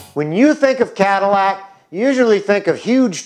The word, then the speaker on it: Cadillac: Well, that name came from a French explorer who discovered Detroit, Le Sieur Antoine de la Mothe Cadillac, and that's how the French pronounce it.